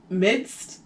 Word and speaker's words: midst: time in the midst midst there's like a d in there i thought you didn't pronounce it i thought that was